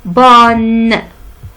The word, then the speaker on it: bonne: Bonne. Bonne. N-E se prononce bonne.